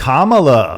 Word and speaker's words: Kamala: Okay, Kamala Harris, Kamala, however you pronounce it. It's Kamala.